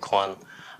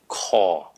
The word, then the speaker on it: call: Please đừng có bao giờ mà phát âm chữ con đó nha. Con, đừng có con. Nó là call.